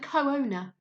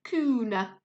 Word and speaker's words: co-owner: Some words, often ones with double vowels, have a hyphen to help you pronounce them correctly. Here we have cooperate and co-owner. If there wasn't a hyphen, I would most likely read this as cooperate and cooner, which might make me look a bit silly.